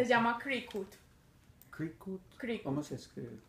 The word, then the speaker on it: Cricut: llama Cricut. Cricut. ¿Cómo Cricut. se escribe?